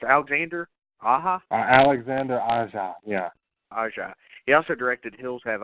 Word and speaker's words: Aja: How the fuck is this pronounced? Alexander Aja? Alexander Aja, yeah. Aja.